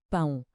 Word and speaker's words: pão: Vemos um A com um til por cima. E o que é que aprendemos? Que o til nos grita nasalização. O a junta-se ao O para criar um som único, o ditongo ão. E o til comanda que esse som tem de vibrar no nariz.